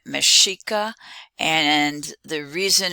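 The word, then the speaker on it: Mexica: is given at the top and you can pronounce it tenochtitlan the people the aztec in that city uh their name mashika and the reason it's mashika that's based upon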